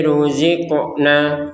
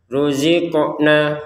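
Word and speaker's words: رُزِقْنَا: Ruziqna qofnya dipantulkan. Jadi 28 huruf hijaiyah ada lima yang harus dipantulkan yaitu baju di toko yaitu huruf ba, jim, dal, ee th, sama qof. Baik. Ruziqna. Ruziqna. Jangan sekedar ruziqna. Ruziqna kan enggak ada pantulan. Harus dipantulkan.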